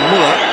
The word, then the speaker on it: Müller: But as Miller says, Müller, as we prefer to pronounce him, that looked like a reasonable challenge.